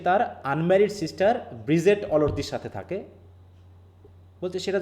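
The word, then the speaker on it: Bridget: ব্রিগেড স্যার। ব্রিগেড। ব্রিজেট, হ্যাঁ, ডিজি জে, যেমন আমরা ব্রিজ বলি, BRIDGE, হ্যাঁ, ব্রিজেট, অনেকে ব্রিগেড বলবে, সমস্যা নাই, এটা বললেই হলো, বানানটা যেন ঠিক থাকে, হ্যাঁ।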